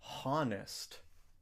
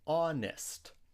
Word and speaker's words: honest: We don't say honest because the H is silent. We say honest.